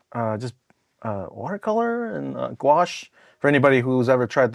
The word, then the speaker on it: gouache: lot of like uh just uh watercolor and gouache for anybody who's ever tried to pronounce that word this is your chance to now remember it it's gouache g o u a c h e um